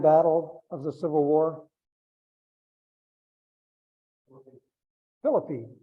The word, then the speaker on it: Philippi: of the Civil War Philippine yeah or Philippi as I pronounce it exactly very small